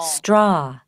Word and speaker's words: straw: jigs jigs straw straw rồi các bạn lưu ý nè Mình ghi á là viết cái mặt chữ là chữ a và chữ U đúng không chữ a và chữ w đúng không Nhưng mà khi đọc á thì nó được nó sẽ phát âm thành chữ O các bạn ạ O